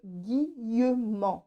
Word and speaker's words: Guillemant: Voilà, je vous embrasse bien fort mes amis et n'oubliez pas ce monsieur qui s'appelle Monsieur Guillemant, comme ça se prononce A-N-T, et vous allez découvrir un trésor.